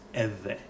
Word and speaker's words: Ewe: So Ewe is written EWE, but the correct pronunciation is Eve. So that's the short V. Short V. So V. So Eve.